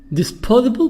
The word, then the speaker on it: disposable: Disposable products. Disposable. S here the sound. وpronounce S as the. هننطق الاس هنا زي الزد او الزي.